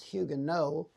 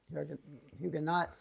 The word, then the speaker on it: Huguenot: And actually, the name is Huguenot. Oh, okay. Huguenots is the British pronunciation of the French word Huguenot.